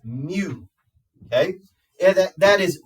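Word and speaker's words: μ: of U looking thing it's Mew Mew pronounced Mew okay and that that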